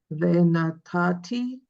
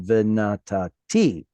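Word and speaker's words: וְנָתַתִּי: Venatati. Okay, instead of putting the stress on the first tav, put it on the last one. Venatati.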